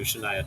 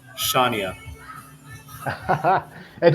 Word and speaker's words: Shania: she introduced me to Shania Twain but it was my first time ever hearing about Shia Twain so you want to know how I pronounced her name how's that sha it I mean it does